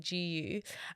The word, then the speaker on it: GU: called gu and it's spelled with a letter G and U and pronounced like gu uh in the US